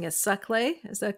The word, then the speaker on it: Saclay: So you said your university, and I might be mispronouncing it, Saclay.